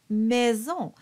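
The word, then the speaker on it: maison: end of that line you have mezon has the same e as Cadet also has that e they're all the same it's nice round like an owl and at the end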